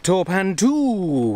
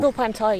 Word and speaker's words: Torpantau: We are up above Torpantu. Torpantai, you mean.